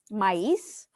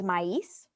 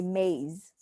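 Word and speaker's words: maíz: it's um usually it's always um mice that's how you say it that's how you say corn in spanish okay so corn in spanish is maiz or sometimes you can also say in english and say maize okay so in posole you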